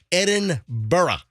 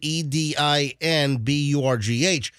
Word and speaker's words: Edinburgh: a storied history but it's it's Edinburgh at Edinburgh that's how you say it it's spelled e-d-i-n-b-u-r-g-h but it's Edinburgh so they just landed